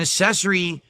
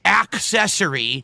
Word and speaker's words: accessory: accessory thing there, or, excuse me, accessory, because if I don't say ack, which you want to hear, the ack, which is why everyone's saying that I'm pronouncing it wrong, so I'll say ack, and then they can